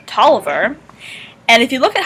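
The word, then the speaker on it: Taliaferro: lovely uh addition to campus that is called toliver and if you look at how tolliver is spelled you notice that the distinct o and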